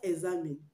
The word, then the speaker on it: examine: it examine and not examine examine examine though the word does not have g in it it has good sound examine examine you can